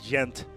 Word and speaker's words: Gent: Or as the Belgians would call it, the Flemish would call it Gent, because they do not use the hard G like they do up here.